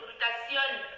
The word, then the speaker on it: glutathion: Il faut bien prononcer, c'est le glutathion, du Je glutathion.